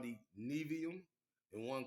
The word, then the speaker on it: Nevi'im: books, one called the Nevi'im and one called the Ketuvim. Now, Nevi'im is spelled Nevi apostrophe I-M.